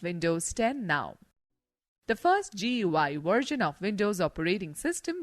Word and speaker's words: GUI: Windows is a graphical user interface GUI, pronounced as GUI, between a computer and its user.